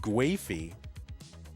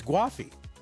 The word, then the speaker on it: Gwafey: have been corrected so those of you who are still saying guy it's guffi now I don't know how that really fits into kind of English uh whether it really should be given how it's spelled but you know listen people got to decide how their name sound okay guffi 377 for